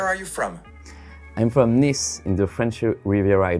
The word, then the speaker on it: Nice: Tu devrais prononcer le S à la fin du mot. Veux-tu essayer de le répéter? So, Nice.